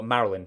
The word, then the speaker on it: Maryland: Billy gra writing in hagertown Maryland or Marilyn excuse me is how you pronounce it one night I was